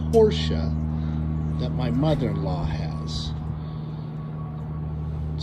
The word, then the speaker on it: Porsche: you want it Acres here's the Porsche not Porsche it's pronounced Porsche that my mother-in-law has a small price tag